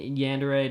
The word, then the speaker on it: yandere: Yandere, am I not saying it right? No, you got it.